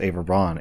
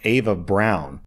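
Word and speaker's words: Eva Braun: Also, OP clarifies, I actually didn't know this, but apparently in German, Ava Braun's name, I thought it was pronounced Ava Braun, is pronounced Ava Brown.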